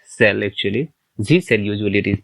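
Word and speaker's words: zsh: you may have zrc Zs H cell actually Z cell usually it is pronounced so the path will be um you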